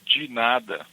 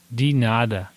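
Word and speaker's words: de nada: You you you write in a certain way with the D E and then N A D A. But how you say it, it's a DI for in Portuguese a ginada. So the way you say it will be ginada. Ginada.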